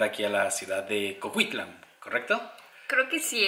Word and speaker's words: Coquitlam: a la ciudad de Coquitlam, ¿correcto? Creo que sí, es que es Coquitlam, Coquitlam. Bueno, nuestra pronunciación definitivamente es muy latina, pero hasta donde sabemos es similar a Coquitlam.